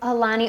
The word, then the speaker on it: Aulani: Aulani, Oahu.